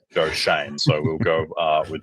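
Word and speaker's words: Joe Schoen: sh and uh but the Giants official website says that it is pronounced Shane Joe Shane so we'll go uh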